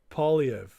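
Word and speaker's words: Poilievre: It's pronounced Polyev.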